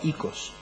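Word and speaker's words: οἶκος: secreto profesional, pero eh sé que se escribe oicos, pero que se pronuncia iOS.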